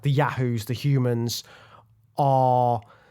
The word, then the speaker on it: Yahoo: The rulers of the Yahoos, and you have to say it like that, Yahoo.